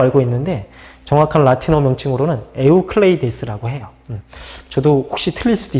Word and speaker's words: 에우클레이데스: 근데 원래 정확한 발음은 에우클레이데스. 유클리드의 기하학이라고 알고 있는데 정확한 라틴어 명칭으로는 에우클레이데스라고 해요.